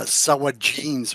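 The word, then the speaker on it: Sahuagin: And you know, I and we've talked about this before when we play DDO is as there's they also call Sahaugin uh, Sawagins or something like that.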